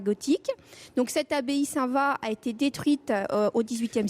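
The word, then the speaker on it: Saint-Vaast: Donc on y voit bien l'ancienne cathédrale gothique, l'ancienne abbaye Saint-Va gothique. Donc cette abbaye Saint-Va a été détruite au XVIIIe siècle. Ça se prononce Saint-Va, mais ça s'écrit Saint-Va-Ast.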